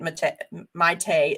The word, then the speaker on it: Maite: Maite is how you say her name.